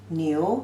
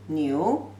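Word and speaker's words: 牛: simplified version like this ox pronunciation is you new second tone no you knew and some phrases shred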